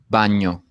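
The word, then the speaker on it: bagno: Daniel Daniel great so can you hear that that like that end sounds that we don't have in English the way to make this sound is to flatten the whole of your tongue up to the roof of your mouth so you get like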